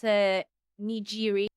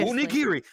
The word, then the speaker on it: nigiri: I think it was Nijiri. There. Said it. I'm living dangerously. You didn't say it correctly. Um, a different kind of G in there with a with a G. No. No. I was going to say, it's a hard G. A Yeah. Niri. There you go. You said it. The living danger. Nigiri. Nigiri. Nigiri.